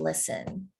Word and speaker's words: listen: to the radio now remember the t is silent and listen something there was something